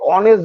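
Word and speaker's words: honest: থাকে এগুলো সাইলেন্ট থাকে বললাম ড্যাশ অনেস্ট আমরা অনেস্ট বলি না আমরা কি বলি অনেস্ট বলি এই গুলো না সাইলেন্ট থাকে তাহলে এখানে কি হবে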